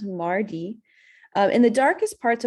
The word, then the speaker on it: Mari Lwyd: into the history so so it looks like Mary Lloyd Mary wood but it's pronounced Mari um in the darkest parts of the Welsh